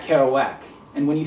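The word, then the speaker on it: Kerouac: because uh you know because it Rhymes it's Jack carow whack and when you say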